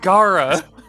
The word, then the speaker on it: Gara: And it was gonna rhyme with Bara. No. Oh God! It's the guard, Gara.